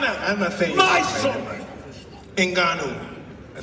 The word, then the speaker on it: Ngannou: My son, Ngannou, I said it right that time, didn't I?